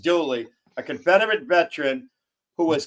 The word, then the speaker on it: Dula: Dula, D-U-L-A, pronounced Dooley, a Confederate veteran who